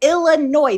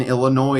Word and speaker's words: Illinois: quote unquote grammar because you're pronouncing the S in Illinois is very funny because that's not grammar.